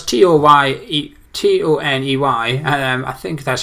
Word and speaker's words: Toney: So, well, you probably pronounce it Tony. Well, it's Toney.